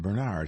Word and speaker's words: Bernard: said Kurtz, putting the emphasis on the second syllable, the way Gonzaga had.